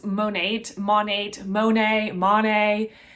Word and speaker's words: Monat: on how to pronounce monet monet monet monet it's modern nature but like squished together so like ma nate is how i pronounce it i figure that's the